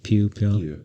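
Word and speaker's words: Pugh: got like like Florence how do you say her name Pew yeah Florence Pew she's probably the highest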